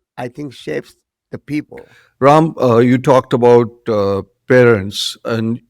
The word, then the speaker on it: Ram: My name is Ram. Phonetically, it is pronounced RAM, but in America, it is Ram. I've spent half my life teaching people Ram.